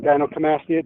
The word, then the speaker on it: gynecomastia: Gynecomastia.